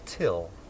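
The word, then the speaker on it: Thgil: them his name is till which he got off of a Light and Fit Yogurt carton my name is till it's spelled t h g i l but it's pronounced till so Neil goes back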